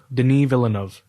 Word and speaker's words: Denis Villeneuve: How do you pronounce his name? Denis Villeneuve? Denis Villeneuve.